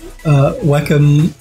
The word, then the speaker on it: Wacom: and says funny Aziz welcome we say Wacom yeah some people say welcome some people say Wacom I used to say Wacom and I heard everyone calling it Wacom so I've just picked